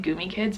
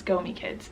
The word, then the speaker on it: Gomi Kids: I've been saying it wrong this entire time. I've been calling it Goomy Kids, but it's Gomi Kids.